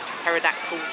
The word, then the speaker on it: pterodactyl: get another one on pterodactyl's flight so you say it i know it starts with a p but it's not pronounced like it yeah it's gone around